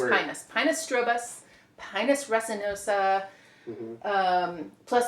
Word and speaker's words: Pinus: Let's talk about, I'm gonna pronounce it Pinus, okay? Yeah. Yeah. Right. Just because No, that's the way. there's this option Way is Pinus.